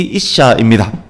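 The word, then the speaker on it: אִשָּׁה: 남자, 여자, 히브리 발음으로 이쉬, 이샤입니다.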